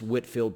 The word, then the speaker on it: Whitefield: the first order that man's name is george whitfield it's spelled a white field with a w-h-i-t-e and then field but it's whitfield pronounced george whitfield is one of the great preachers in american